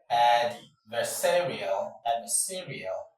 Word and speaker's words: adversarial: And according to the rule, when you have a word ending in IAL, the last syllable should be ignored. It is the penultimate syllable, that is the syllable before the final that that attracts, that carries the stress.